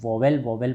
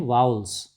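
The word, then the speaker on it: vowels: Students, इसको ज़्यादातर बच्चे जो हैं वोवेल पढ़ते हैं, बट इसका करेक्ट प्रोनाउंसिएशन है वाउल्स। करेक्ट प्रोनाउंसिएशन क्या है, वाउल्स।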